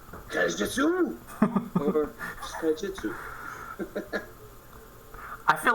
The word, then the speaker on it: Kaijitsu: It's Kaijitsu, yeah. Yeah, it's like Kaijin from that movie, Big Monsters.